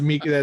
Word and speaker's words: Mika: Euro Trip they said Mika was a common German girl's name, so I'm kind of confused. No, it's Mika. That's how they pronounce it.